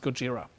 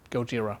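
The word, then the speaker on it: ゴジラ: Godzilla they called and Japanese is Godzilla is pronounced Gojira so that's where it comes from Gojira it's Japanese for Gilla all right that's also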